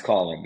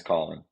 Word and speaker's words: Caulen: Is it Caulen? Yeah, it's Caulen. It's Caulen.